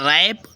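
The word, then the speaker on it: wrap: भी English word में यदि डब्लू के तुरंत बाद आर आए तो डब्लू साइलेंट हो जाता है इसको आप जानते हैं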